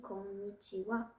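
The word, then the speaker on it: こんにちは: kilagana est en fait le kilagana de ha pourtant on dit conwa et bien c'est l'une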